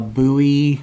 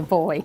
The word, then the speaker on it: buoy: Always makes me laugh when Americans say buoy. Buoy? Because they're a boy. In England, it's called a boy. Okay, a boy. Not a buoy.